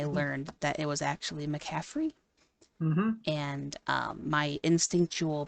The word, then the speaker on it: McCaffrey: a list of Players whose names have been mispronounced and who's done them my entire like fandom of the NFL I've always said McCafferty with a t and um I was a